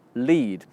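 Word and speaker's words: lede: It's called The Lead. Lead is spelled L-E-D-E.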